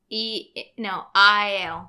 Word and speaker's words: Aiel: I read the pronunciation. Aiel.